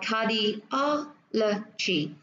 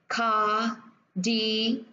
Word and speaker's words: cardiology: 3 4 5, và cái âm tiết mà nó nhấn vào sẽ là âm tiết thứ ba, và mình sẽ đọc là cardiology.